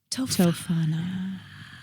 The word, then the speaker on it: Tofana: So Tofana. phonetically And spelled.